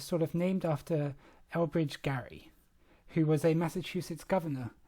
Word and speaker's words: Gerry: I think like the throughout history the pronun pronunciation of of his name changed so he pronounced it Gary but now we say